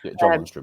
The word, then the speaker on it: Lundstram: I think the Lundstram, am I pronouncing him right? John Lundstram, yeah.